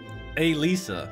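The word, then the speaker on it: Elise: the chance morning ELISA ELISA so you pronounce it like Lisa but you put a in front of Lisa ELISA it's not illicit and Lisa morning hey Lisa you're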